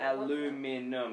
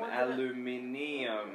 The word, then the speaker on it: aluminium: it out it is this is the way that people pronounce it aluminum aluminium one is american one isn't it now it's got an